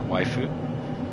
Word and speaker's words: waifu: words you know that it's not really that it's a special word waifu that's just the only way you can pronounce it with the sounds that japanese people have oh that's good um